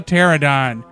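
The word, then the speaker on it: Pteranodon: plane no it's a paradon his p is silent so watch out below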